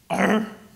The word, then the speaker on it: argh: And you know, like the library is called argh, but to paraphrase Monty Python, it's actually pronounced arr.